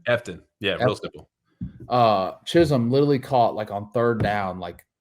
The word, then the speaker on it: Efton: Efton? Efton.